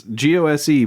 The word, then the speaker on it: Gose: It's GOSE, but I've learned, I think even on this can it says the correct pronunciation is Gose.